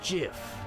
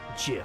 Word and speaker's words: GIF: as the reborn Champion it's pronounced GIF huh do JF like the peanut butter the Creator said so that's dumb it's Graphics